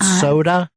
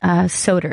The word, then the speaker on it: Soder: Is that it? Soda? It's actually Soder. It's pronounced Soder.